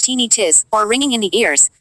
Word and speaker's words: tinnitus: heart palpitations lethargy tinnitus tinnitus pronounced teeny tiss or ringing in the